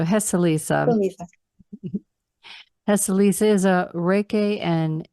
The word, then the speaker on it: Heceliza: I said it wrong. So Heceliza.